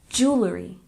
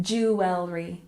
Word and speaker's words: jewelry: 11 we have jewelry we stress the first syllable and we pronounce it jewelry jewelry one more time jewelry good we don't say it jewry we say jewelry for example I love